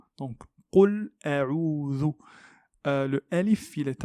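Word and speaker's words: قُلْ: Sachez que le qaf se prononce de cette façon qo, qo. Donc qul a'udhu.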